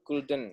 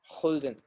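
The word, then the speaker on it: gulden: of Indische Compagnie jadi dalam bahasa Belanda huruf g itu sama dengan paha jangan jadi Mata uang Belanda kan itu Golden Eta si bacanya Holden understand ya serep kalian mengerti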